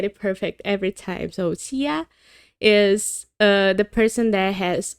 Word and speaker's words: Xia: explain to me that this name, which I often pronounce Zaya, is a Chinese name and is supposed to be pronounced as, I'm sorry, but I'm gonna keep butchering this probably, but I think it's supposed to be pronounced Xia, so Xia.